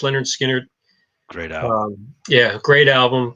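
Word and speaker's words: Lynyrd Skynyrd: my top five uh leonard skinner pronounced leonard skinner great um yeah great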